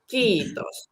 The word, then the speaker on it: kiitos: word for thank you, which is kiitos, and it has 2 I's, two E's, and I hear it saying ki, kiitos. And when I really pronounce the first vowels, kiitos, I really feel the chi in the word.